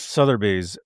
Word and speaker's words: Sotheby's: Is that how you pronounce it? Yes, yes, Sotheby's.